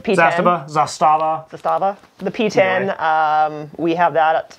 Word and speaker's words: Zastava: I'm going to say this wrong, probably Zastava. Yeah. That's how you say it. P10. Zastava.